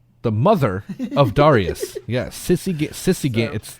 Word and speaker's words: Sisygambis: Yeah, Sisygambis. It's literally exactly how it's spelled. Sisygambis. It's like the X-Men Gambit being a sissy, but with an S on the end instead of a T.